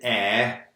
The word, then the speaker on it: heir: And normally we pronounce the H, but with heir we don't pronounce the H. Certain exceptions, we don't pronounce the H. Heir is one. Honest is another.